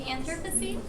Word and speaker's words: Anthropocene: The Anthropocene.